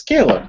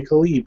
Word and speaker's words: Caleb: It's Caleb. And he goes, "Yeah, everybody calls me Khalib, though."